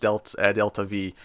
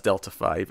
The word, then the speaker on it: delta V: Yeah, when I recant my opening of the last episode review when I incorrectly pronounced delta V as delta 5. I'm so sorry. It looked like a Roman numeral.